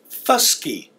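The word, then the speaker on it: fvske: The second word is fusky. Fusky. And it means sharp. So if you heard if you notice the difference in the pronunciation, dava makes a V sound and fusky makes a soft F sound.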